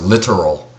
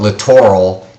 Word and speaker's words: littoral: you need to learn this word littoral sometimes pronounced literal but that sounds too much like the other word literal which means you know exact exact word the literal translation so i'll call it littoral it will help you